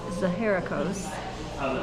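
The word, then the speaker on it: Zaharakos: So, I'm correcting my pronunciation. It's Zaheracos.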